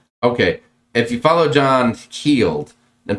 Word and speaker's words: Heald: If you follow John Heald, then please don't say held.